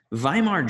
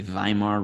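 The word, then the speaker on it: Weimar: were known as The viar Republic in Germany W's are pronounced as V's that's why volksvagen is Volkswagen they make the Volkswagen Beetle not Volkswagen but anyway uh so viar Germany was the post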